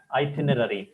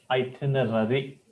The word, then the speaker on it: itinerary: like this that is called as itinary the problem in this pronunciation is but so it's quite obvious the pronunciation is itinerary remember this forever to